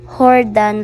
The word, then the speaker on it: Jordan: terminal Jordan terminal nan Jordan pa akong tawag pero ang pag-pronounce kapango is Hordan letter H po so nakita ninyo kapango